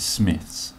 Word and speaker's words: Smythe's: I believe, Irish establishment, which people keep saying to pronounce it Smith's. That's not how I say it, because then it gets confused with W.H. Smith's. So I went in Smythe's, saw the new Avengers